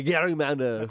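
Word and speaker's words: gerrymander: and tried to terminate this Gary man the Gary mander we've been saying it wrong all along did you know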